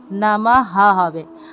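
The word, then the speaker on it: নমঃ: হ সন্ধি যুক্ত হপর দেখুন পাতা তারপর দেখুন নামা হবে অর্থাৎ কোন লাইনের শেষে এবং কোন শব্দের শেষে যদি বিসর্গ থাকে তাহলে উচ্চারণ হবে পুনঃহ অর্থাৎ নামাহ হবে কিন্তু এখানে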